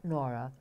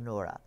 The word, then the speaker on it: Noura: Not Nora, but Noura.